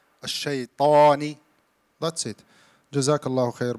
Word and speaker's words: الشيطان: Don't close your lips in shayto, not الشيطو. الشيطاني.